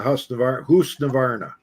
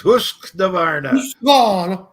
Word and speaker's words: Husqvarna: Because he would have said, no, it's Husqvarna. Husqvarna. Well, there's no K in it. It's Husqvarna. I got by an hour meter, but I'm looking for one of the mechanical ones.